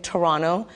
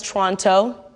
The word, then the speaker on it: Toronto: Emphasis on the way I'm saying Toronto. You know someone is from Toronto if the T is silent. If someone says Toronto, imposter!